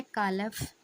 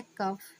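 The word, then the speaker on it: calf: ए है कालफ, बी है काफ, सी है कफ, डी है कोई नहीं। So friends C एल एफ में एल साइलेंट रहता है। इसलिए सही उच्चारण हो जाएगा हमारा काफ।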